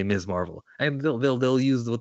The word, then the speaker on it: Ms. Marvel: to captain mark uh ms marvel and the show by the way her name which you and i pronounced correctly and it's ms marvel and it's not miss marvel ms marvel actually is